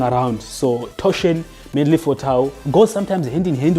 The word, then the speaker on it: tau: So, after sigma we have what is called tau.